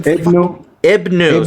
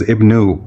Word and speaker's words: Ibn: So, Ibn Hisham, you still pronounce it as Ibnu, although so it's just Ibn.